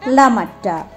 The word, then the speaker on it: লামাহাটা: অনেক দূরে শেরপাদের গ্রাম লামাহাটায় যার স্থানীয় উচ্চারণ লামাট্টা জায়গাটা মনে পড়ছে তুমি